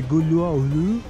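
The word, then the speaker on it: Güllüoğlu: Entriamo in questo posto che si chiama Karakoy Gulolu. Quella G finale non si pronuncia, non si dovrebbe pronunciare. Quindi Gulolu, something like that.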